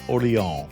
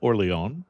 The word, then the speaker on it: Orléans: And I'm going to call it Orléans cuz that's the closest I can get to the real pronunciation, but it's old Orléans.